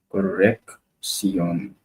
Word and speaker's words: corrección: is not doubles in each C is pronounced separately since each belongs to different syllable. The first C has a K sound, and the sound S sound, correction, correction. The two CS go into separate syllables in the following way: corrección, instrucción, construcción, inspiración,